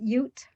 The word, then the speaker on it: Ute: Just Ute.